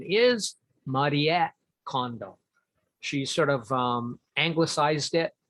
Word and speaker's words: Marie Kondo: And by condo, I mean, the correct pronunciation is Marie Kondo. She sort of anglicized it for 𝗣𝗂𝘂𝘀𝗵 so that they can hear it better. But her name is Marie Kondo.